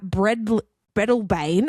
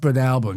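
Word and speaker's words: Breadalbane: A semi-tra slammed into four parked trucks in a Hume Highway rest bay at Bred Blebane on Tuesday. Bred Alburn. Bred Alburn. It's pronounced Bred Albburn.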